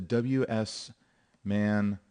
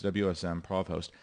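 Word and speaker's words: wsmprovhost: So the profiles, and that's because when you remote, the hosting application is the WS man or WSM provost. I got that name wrong. It's WSM provost.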